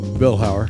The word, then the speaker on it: Vilhauer: Rod Viller Vower. God, how do you say your last name? Vilhower.